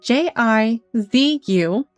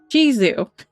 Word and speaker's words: Jizu: It is J I Z U. And so I'm going with Jizu.